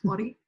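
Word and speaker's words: Ora: Ori. It's spelled O-R-A, but it's Ori. You got to roll the R, I think.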